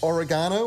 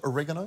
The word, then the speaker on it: oregano: it's hot and spicy oregano or in the US as you'd probably call it oregano that's how they say it yeah now what are